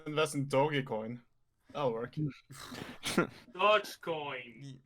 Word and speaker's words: Dogecoin: Dogecoin, not doggy. Stop it. It's Doge. Doge.